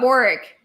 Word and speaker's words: Warwick: So they're saying it as if it's spelled Warrick, but anyway.